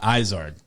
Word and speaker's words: Izard: couple years now lisa tell me i'm pronouncing this right stephanie izard that is correct i'd only read it at that point and i said israel she's like no no no no no